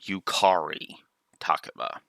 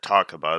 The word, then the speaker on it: Yukari Takeba: And yes, I pronounce it that way because that's what every dub of, every time she has shown up in future Persona works, the English dub pronounces it Yukari Takeba.